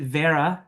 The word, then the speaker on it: Vera: Vera, but is it Vera? Is that how you prefer it? Yeah, so it's kind of like if you say air Yeah. with an and a v at the start. So v, air, But it's fine.